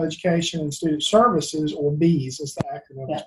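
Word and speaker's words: BEESS: The Bureau of Exceptional Education and Student Services, or BEAS, as the acronym is pronounced, has a technical assistance paper, and I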